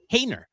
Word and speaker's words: Haener: So the Giants have signed Jake Haener. All right. Hayner is how you pronounce it.